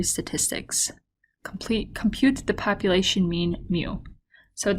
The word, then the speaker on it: mu: Mu, which is a U with a tail in front, represents the population mean. And the way you pronounce that is mu, mu.